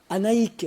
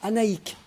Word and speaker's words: Annaïg: nom de annaïg juillet attention hein c'est annaïck on prononce annaïck auquel était tout petit